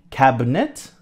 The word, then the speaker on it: cabinet: really pronounce it's more cabinet okay we don't really emphasize the I you can if you like but we don't emphasize the eye at all now the coffee table